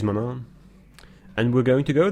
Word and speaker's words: Manaan: call that I think the English pronunciation is mon on mon on mana it is mana and we're going to